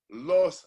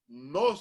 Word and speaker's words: nos: So when I was saying the Spanish word, the Spanish special, I would say los robaron, and the guy from Netflix said, no, you're saying it wrong. It's nos robaron, N-O-S, nos.